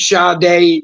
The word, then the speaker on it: Sade: uhhuh but then he picked sha day Smooth Operator at least he picked a different sha song this time and we ain't even going to get into Shad day but it's spelled Sade make that make sense I don't know